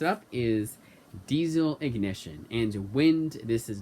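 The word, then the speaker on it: Wynd: First up is Diesel Ignition, and Wind This Is Not.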